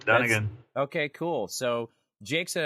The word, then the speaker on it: Dunagan: Dunagan, is that how we pronounce it? That's it, Dunagan.